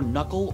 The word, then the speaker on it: knuckle: so many k's well the k's are silent by mistake the original old english forms of these words were pronounced with k sounds canife canite kani but